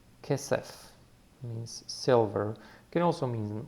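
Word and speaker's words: כסף: And it has the dad or the dagesh in it, and therefore it's the hard pronunciation. So it's not a ch, it's k. The vowels, both of them are e sounding, so it will be ke, se, and the final letter is f.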